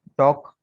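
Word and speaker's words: talk: ठीक है, अच्छा इसका कानून देखें, यहाँ एल साइलेंट होने का कानून ये है कि एल के बाद अगर के नजर आ जाए तो एल साइलेंट होगा।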